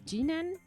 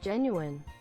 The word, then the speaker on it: genuine: It's pronounced genuine. It's genuine.